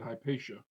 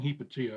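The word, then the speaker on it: Hypatia: righteous I see they're pronouncing it heppa here so I might have been pronouncing it incorrectly when I said hpaa uh so they're saying hipatia I'm going to I guess I'll go with that fall to Forever a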